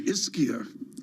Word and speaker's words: Ischia: I mispronounced the one yesterday, Ischia.